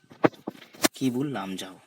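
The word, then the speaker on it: Keibul Lamjao: देखिए कीबुल, ये बहुत मेजर फर्क डाल देते हैं आपकी सवाल को अंडरस्टैंड करने में और प्रोनाउंसिएशन में भी। लाम जाओ, कीबुल लामजाओ।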